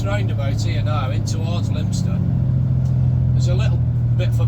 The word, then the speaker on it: Leominster: I mean, correct me if I'm wrong, but I do believe it's pronounced Leominster. But you know, if you're seeing it for the first time, it looks like it should be pronounced Leominster.